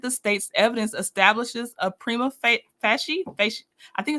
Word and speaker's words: prima facie: Conflicting evidence presents a jury question not subject to review on appeal, provided the state's evidence establishes a prima facie I think it's fash Oh my gosh.